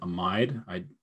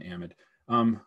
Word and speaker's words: amide: Interestingly, some people, some parts of the country, they call it an amide. I think either is fine. I don't know why I've softened the I a bit. Does look like it's spelled amide. But what I usually call it an amide. Whatever you would like to do, I'll understand both of them.